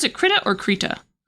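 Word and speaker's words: Krita: By the NASA supercomputer specifically for um animating in Critter. Is do you guys pronounce it critt or kitta? Creta.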